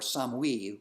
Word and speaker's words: Samhain: Celtic people switch from Samhain or some we which is how they pronounced it some we this this God